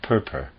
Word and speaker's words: Purpur: And such is the fact, for pure red appears, a color to which from its excellence we have appropriated the term purpur.